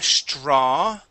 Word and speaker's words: straw: Let's go to the word straw. Okay, you had said straw. Okay, Here the AW makes an aw sound. Straw. Straw. Okay, one more time. Straw. So the TR is a CHR sound.